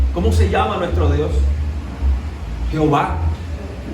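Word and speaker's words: Yahvé: Jehová. Yahé. Se puede pronunciar también en esa forma.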